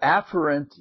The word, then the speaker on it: afferent: pronounce the words for you and the the afferent is the proper pronunciation epher has two pronunciations but in both